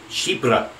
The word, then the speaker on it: chypre: It's pronounced Chypre. It's on YouTube.